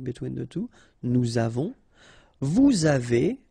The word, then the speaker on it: vous avez: the two, nous avons, vous avez, a Z at the end will produce this E sound, avez, little link between the two, vous avez, ils ont,